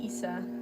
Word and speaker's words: Isa: It's just a nickname, but I just say Isa. So that's how I say it, but a lot of people say it different ways.